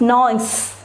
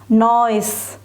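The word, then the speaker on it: gneiss: in your textbook children it is g n e i s s we pronounce it as noise noise noise okay it's a type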